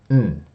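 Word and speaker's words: ん: So it's going to sound like this. N. N. Okay? So there's no vowel sound associated with it.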